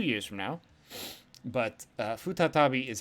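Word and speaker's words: 再び: sarainen is two years from now but uh futa tabi is how it's pronounced here for again once more or a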